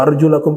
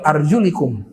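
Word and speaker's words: أرجلكم: Idza qumtum ila sholati faghsilu wujuhakum wa aydiyakum ilal marafiq wamsahu birusikum wa arjulakum ilal ka'bain. Dalam satu qiraah begitu. Arjulakum, qiraat yang lain arjulikum.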